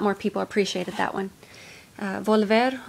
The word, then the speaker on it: Volver: people appreciated that one volver or valver as most people tend to to mispronounce it i cannot pronounce the